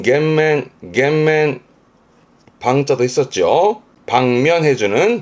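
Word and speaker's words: 減免: 감면해주는 발음은 겐맨.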